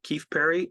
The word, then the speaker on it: Keefe-Perry: my name is Keith Perry first name rhymes with salad last name rhymes with beef Berry um I'm a member